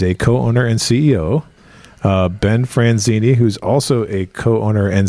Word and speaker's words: Franzini: Ben Franzini, who's also a co-owner and CEO. Did I pronounce that correct?